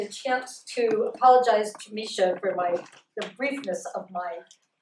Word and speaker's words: Mesha: And let me just start by saying quickly, Mesha's name is Mesha, Maren.